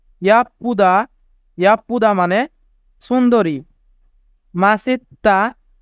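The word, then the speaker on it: 멋있다: ব্যক্তিত্ব ইয়া পুদা ইয়া পুদা ইয়াপ্পুদা মানে সুন্দরী মাসিত্তা মাসিত্তা মাসিত্তা মানে হ্যান্ডসাম এখানে বাচ্চিমের পরে ইয়ং থাকার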